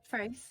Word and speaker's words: Fraise: I forget how you're supposed to pronounce her name. Is Fraise? Fraise, yeah.